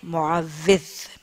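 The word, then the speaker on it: معوّذ: معوز ہی سنا ہوگا ذرا اس لہجے کی کریکشن کر لیجئے معوز واو کے اوپر شد ہے اور نیچے زیر ہے.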